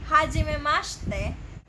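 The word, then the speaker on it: はじめまして: So you may also notice that I'm pronouncing it as hajimemashite. And why is it like that? Japanese has this called vowel devoicing. It is where they omit a vowel.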